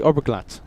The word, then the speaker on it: Oberglatt: Oberglatt. Am I saying that correctly? Oberglatt.